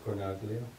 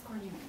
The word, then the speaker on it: Cornelia: How do you pronounce that name? Cornelia. She might correct me on that. But it's not Cornaglia? She said it as Cornelia this afternoon.